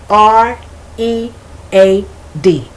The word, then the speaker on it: read: every word is spelled r e a d so there's no change in spelling but these are homographs there's change in pronunciation the present the simple